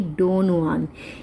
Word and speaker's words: Don Juan: आज की इस वीडियो में हम कवर करेंगे डॉन जुआन। इसकी जो प्रोनाउंसिएशन है डॉन जुआन है, चाहे इसका जो फर्स्ट लेटर है वो जे है, लेकिन जो इसकी प्रोनाउंसिएशन है दैट इज़ जुआन, डॉन जुआन, जो कि लिखी है लॉर्ड बायरन ने।